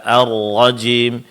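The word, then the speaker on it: الرجيم: Pertama pengucapan huruf ra yang bertasydid. Ee seperti tadi pada kata arrajim minasyaitanirrajim nirrajim. Berikan sedikit penekanan pada makhra.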